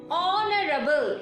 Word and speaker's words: honorable: Here, honorable, H is silent, so we have to consider the next letter, O, which is a vowel.